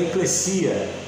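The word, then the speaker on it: ἐκκλησία: Corrigindo a pronúncia, porque a gente fala eclésia pelo aportuguesamento, né, da palavra, mas é eclesia, tá?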